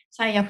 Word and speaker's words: SIAF: スバルアートフェスティバルの頭文字を取ったもので最悪と読みます最悪はこれまで